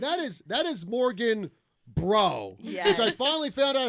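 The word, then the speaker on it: Breault: And that is that is Morgan Bro, which I finally found out how to say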